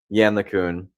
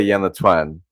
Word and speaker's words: Yann LeCun: this uh story about Yann LeCun. I think that's how you pronounce his name. Um I I used to say Yann Le Twin, which uh not.